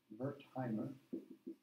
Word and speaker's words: Wertheimer: a guy named Max Wertheimer. You'll study about him in the history of psychology course, Max Wertheimer. In German, the W is pronounced as a V, Wertheimer.